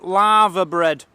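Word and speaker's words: laverbread: for us tea we're having lava bread that's spelled l a v e r bread all one word if you want to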